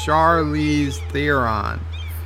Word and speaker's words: Charlize Theron: the trigger says Joe her name is pronounced Charlize Theron she was the actress